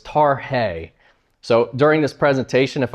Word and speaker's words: Tarhe: And the descendants came and said, you know it's Tarhe? I said, I did not know it's Tarhe. Thank you for that. So we actually did a little video of his great grandson giving how to say it properly. So it's Tarhe.